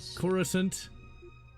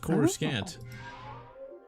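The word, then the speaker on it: Coruscant: Narcita Zju 5 Creor Corissant used to be pronounced Cororusant.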